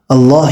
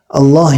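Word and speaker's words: الله: அல்லாஹ் என்ற வார்த்தையின் உச்சரிப்பு சட்டம். அல்லாஹ் என்ற வார்த்தைக்கு முன்னால் ஜபர் அல்லது பேஷ் வருமேயானால் அல்லாஹ் என்ற வார்த்தையை வல்லீனமாக படிக்க வேண்டும். ஜேர் வருமேயானால் மெல்லீனமாக படிக்க வேண்டும்.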